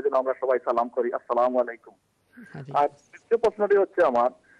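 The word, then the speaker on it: السلام عليكم: প্রথমত আমরা যেই অবজারভেশন দেব পর্যবেক্ষণ সেটা হলো আসসালামু আলাইকুম এটাই হচ্ছে কারেক্ট উচ্চারণ। শুদ্ধ উচ্চারণ।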